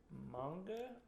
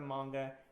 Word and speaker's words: manga: Yeah, it's manga. I believe the right pronunciation is supposed to be manga.